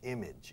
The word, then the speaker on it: image: Image, image, image. Se escribe image, imagen, pero se pronuncia image, como si I latina, y como si hubiera una I latina en medio.